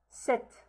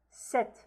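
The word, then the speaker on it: sept: Set. Set. The p is silent here.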